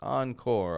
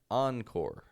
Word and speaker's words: encore: French r on call we're not using that kind of R we're using an English R oncore and so we take the French first half but an American second half you see what I